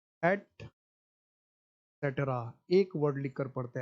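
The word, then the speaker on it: et cetera: पांचों प्रोनाउंसिएशन गलत है। इसका जो शुद्ध प्रोनाउंसिएशन है वो है एट सेटरा।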